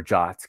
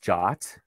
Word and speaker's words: JWT: It's actually pronounced JOT.